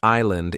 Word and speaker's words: island: The word island is hard because the S is silent.